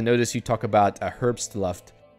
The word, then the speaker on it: Herbstluft: It took me a while to notice you talk about a Herbstluft. In German, the pronunciation of BST brings you to a full stop. So Herbstluft.